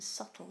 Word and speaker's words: subtle: Why, for example, is there a B in subtle if we don't pronounce it?